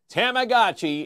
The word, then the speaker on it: Tamagotchi: Doesn't matter how you sell it or spell it, it's how you pronounce it, right? Tamagotchi. Tamagotchi is it.